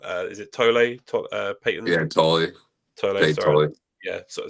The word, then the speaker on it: Tolle: Yeah, Tolle. Tolle, sorry. Tolle. Yeah, so some of the names I'm still getting used to pronouncing.